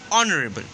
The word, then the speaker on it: honorable: which is your vowel, and H is a silent letter. So we add an before the word honorable.